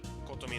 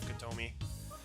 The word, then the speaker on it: Kotomi: so i'm kind of trying to do the japanese pronunciation such as like nagisa instead of nagisa kotomi instead of kotomi our shoulders touch as